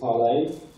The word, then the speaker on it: ParlAI: So this talk is about ParlAI, that looks like ParlAI, something like that, but we pronounce it ParlAI, which if you've ever seen like Pirates of